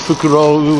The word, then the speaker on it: fukurou: show you yeah uh fukuro is bag and fukurou with an extra u at the end is owl so this was uh